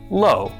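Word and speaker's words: לא: The lammed makes l. The halam makes o and the olive is silent. Altogether this is pronounced low.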